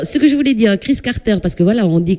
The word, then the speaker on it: Kriss Carter: Alors, ce que je voulais dire, Chris Carter, parce que voilà, on dit Chris Carter, on va peut-être l'épeler pour, parce qu'il y en a, ils peuvent l'écrire autrement.